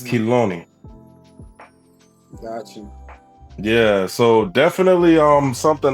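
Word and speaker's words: חילוני: The transliteration is saying that it's Kiloni. Kiloni? Yeah, Kiloni is a transliteration, and it's spelled out Chet, Yod, Lamed, Vav, Non, Nun, and Yod. So Kiloni, or Kiloni, I guess.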